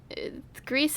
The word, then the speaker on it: Gris: a pronunciation police oh Greece and Gris sound so different though but the pronunciation is gree you were looking for